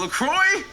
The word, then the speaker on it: La Croix: Wow, LaCroix? That's just not LaCroix. It's La Croix.